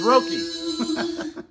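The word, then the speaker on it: Roky: Yeah, I'll pronounce it right. It's Rocky.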